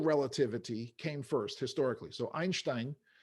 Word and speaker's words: Einstein: So, Einstein, і так маючи вимовити його ім'я, він був німець, чи з Німеччини він був, по-німецьки його прізвище є Einstein.